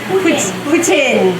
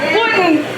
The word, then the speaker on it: poutine: Somebody tell me how to say it right. It's Putin. Putin. Oh, the in. Okay. Not Putin, but Putin. Yeah. Putin. Oh, is that better? Perfect. Is that better? Yes. That's the right way, Putin.